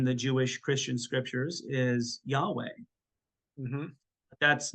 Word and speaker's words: Yahweh: a nice technique is just to breathe breathe Yahweh often the um especially the Orthodox monks would